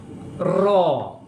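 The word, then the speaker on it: ρ: Nah, R dibaca Ro. Hanya diabaikan aja. Ro.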